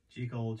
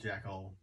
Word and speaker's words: Jekyll: and mr hyde premiered chicol jekyll tomato tomato there's two minds in the subject of how to pronounce the character's name right uh it's all